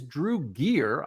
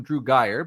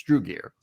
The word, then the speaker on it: Drew Gier: And I just learned I've been mispronouncing his name all this time. His name is Drew Gear. I've been calling him Drew Guyire, but Drew Gear is his actual name.